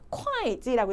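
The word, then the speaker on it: 会计: 자, 그 다음에 또 주의해야 될 단어 직업 중에 어떻게 읽으면 절대 안 되냐면 바로 호이지가 아닙니다. 어떻게 읽으셔야 돼요? 콰이지라고 읽으셔야 돼요.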